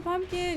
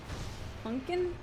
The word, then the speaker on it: pumpkin: New pumpkin. You're just checking for a pumpkin. Well, I'll end the stream soon. It's pronounced pumpkin. Punkin. Some people do say that.